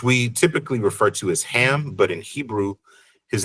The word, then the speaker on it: Ham: We have Kam, which we typically refer to as Ham, but in Hebrew, his name would be Kam is how it would be pronounced.